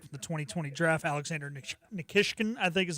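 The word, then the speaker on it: Nikishin: round draft pick for the 2020 draft, Alexander Nikkishkin, I think is how you say it, right? Nikishian. Nikishian. Okay, I was close. That's a that's a that's a very P man pronunciation.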